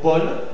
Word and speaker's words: Paul: dit au ouvert hein dans le mot Paul a u ça se dit auouvert et aussi si les